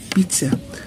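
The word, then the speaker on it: pizza: بيتزا بننطقها ازاي؟ الدبل زد بننطقها تي اس. بيتزا شوكليت شوكولاتة.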